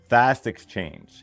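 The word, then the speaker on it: Fastxchange: Fast exchange. and it's spelled fast like the word fast and then exchange like the letter X and then the word change but all in one word.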